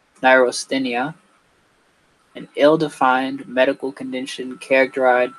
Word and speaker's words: neurasthenia: So it's pronounced neurasthenia, an ill-defined medical condition characterized by lassitude.